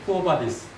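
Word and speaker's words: Quo vadis: 그게 쿠어바디스 도미네. 이게 라틴어를 제가 잘못해서 우리 어떻게 발음해야 돼? 쿠어바디스. 아주 정확하게 잘 발음.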